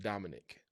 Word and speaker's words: Domenick: My name is spelled Domenick. It's actually pronounced Dominic.